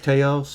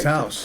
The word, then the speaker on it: Taos: Like Teos, I guess. How am I saying it right? Taos. Taos.